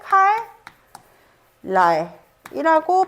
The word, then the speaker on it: 칼날: 라라고 발음을 하는 것이고요 자 그리고 칼날 처음 오게 되는이 첫 음절의 종성 자리 리을이 그다음에 오는 말에 초성자 니은 영향을 미치면서 발음할 때 칼 랄이라고 발음하게 하는 것이죠 칼날 아시겠죠 칼날 이렇게 발음하게 하는 바로 유화가 되겠습니다 어렵지 않죠 그죠 자